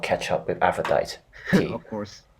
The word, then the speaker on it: Aphrodite: Aphrodite. That's how you pronounce the name.